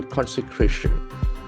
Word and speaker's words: consecration: Ram temple consecration. Consecration is a beautiful noun. C-O-N-S-C-C-R-A-T-I-O-N. As you know, shun ending must be nouns. Consecration. Consecration. That accent falls on the 3rd syllable.